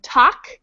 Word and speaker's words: talk: the L is silent the word talk we really do not pronounce that L at all so in English we've